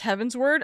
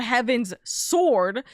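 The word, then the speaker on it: Heavensward: Salah love that it might sound weird, but it's pronounced heaven's word.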